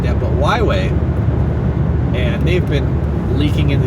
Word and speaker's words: Huawei: It's really, but it's pronounced Huawei.